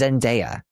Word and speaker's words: Zendaya: It's Zendaya.